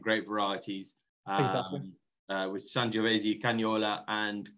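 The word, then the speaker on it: Canaiolo: With Sangiovese, Cagnola, and Colorino, maybe. Exactly. That's the correct perfect pronunciation.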